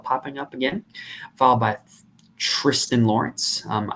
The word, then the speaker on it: Tristan: up again followed by Tristan Lawrence um I do believe that is pronounced Tristan followed by Novak Soderberg